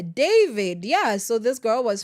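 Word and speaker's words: D4VD: He's David Anthony Burke, D4 VD, but pronounced as David.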